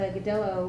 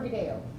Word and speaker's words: Godello: And I'm sorry, is this one pronounced Godello or Godeo? Uh-huh, yep. Yep, both? Yep, okay. Okay, because sometimes that it confuses me. Depends on what part of Spain you grew up in. So I think for us Yanks, we just get to pick which one we like to say better.